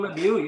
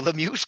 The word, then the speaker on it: Lemieux: his last name rhymes with Schmilu. Yeah. Mario Lemieux, yes, came in 282